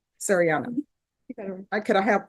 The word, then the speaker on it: Sariana: Serini, how do you pronounce it? Shadiana? Sariana.